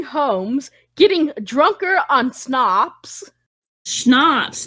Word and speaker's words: schnapps: Schnapps. That's what you're saying. Not snob. Schnapps.